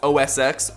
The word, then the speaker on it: OS X: And I'm not even gonna get into the fact that OS X is pronounced OS X, but the iPhone X is pronounced the iPhone 10, even though they're both